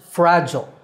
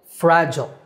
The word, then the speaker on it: fragile: In American English, it's pronounced fragile. Fragile, fragile. In British English, the second syllable is gile, fragile.